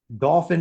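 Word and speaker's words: Dauphin: Dolphin is spelled very different, d a u p h i n.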